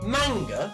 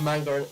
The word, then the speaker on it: manga: like manga manga sorry manga hey why'd you say it like that i want to read manga it's manga not manga but um i'm guessing